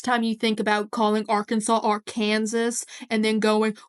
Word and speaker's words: Arkansas: Native American word whereas Arkansas is the French pronunciation it just I'm sorry